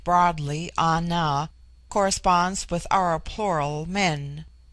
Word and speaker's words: Ana: George Buller Litton chapter 10 the word Ana pronounced broadly Ana corresponds with our plural men an the singular